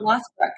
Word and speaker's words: Lothbrok: Lothbrok.